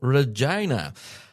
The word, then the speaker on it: Regina: Uh, so yeah, it's the city of Regina. And he has spelled it phonetically.